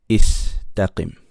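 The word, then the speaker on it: استقم: So the hamza has to be pronounced with a kasra. Istaqim.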